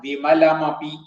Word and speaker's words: വിമലമപി: പിന്നെ വിമലം അപി കൂടിയിട്ടാണ് വിമലമപി എന്നാവുക.